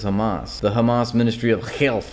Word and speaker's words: Hamas: time the same way he obviously knows how to pronounce an H right he says theas Ministry of Health well which one is it shouldn't it be the Hamas Ministry of Health or